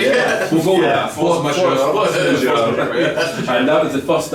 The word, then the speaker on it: Force Majeure: So you've also recorded the first new album with Kenny, Force Majeure. That's how you pronounce it, Force Majeure. It's French, probably. We'll go with that. Force Majeure.